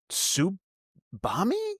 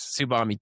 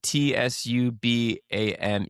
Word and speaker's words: Tsubame: Subami, how do you say that? Do you know how to say that? Subami Industries. Tsubame, T-S-U-B-A-M-E, Tsubame.